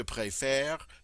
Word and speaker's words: préfère: for ease of pronunciation, we simply change the I accent aigu to an I accent grave. That changes the sound from A to E, and that short vowel just seems to work much better in closed syllables.